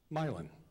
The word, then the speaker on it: Milan: Can I ask you to pronounce the name? It's a name of a town. It's Milan. Milan? Pretty close. It's Milan.